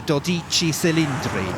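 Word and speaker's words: Dodici Cilindri: If we were Italian, I think we'd be calling it Dodici Cylindri.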